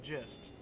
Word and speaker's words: gist: pretty much the just of it actually it's pronounced gist and it's spelled like j i s I